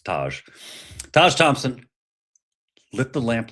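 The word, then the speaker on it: Tage: your American hockey player Taj Thompson or TA depending on how you pronounce it. It's Taj.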